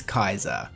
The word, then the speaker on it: Caesar: In Latin, there is no such thing as a soft C. The letter C is always pronounced like the letter K. And also in Latin, the letters AE are always pronounced as I.